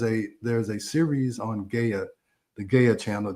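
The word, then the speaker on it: Gaia: There's a there's a series on Gaya, the Gaya channel, G AIA. That's how I pronounce it, Gaya.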